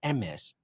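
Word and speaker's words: Hermès: Hermes, Loafers? usually. Actually, it's pronounced MS.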